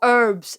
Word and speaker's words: herb: Oh, herbs and herbs. Herbs. Yeah, it's herb. I'm going to say that. Herbs, silent.